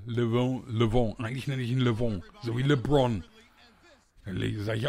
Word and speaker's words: Le'Veon: Le'Veon Bell, Le'Veon. Eigentlich nenne ich ihn Le'Veon, so wie LeBron.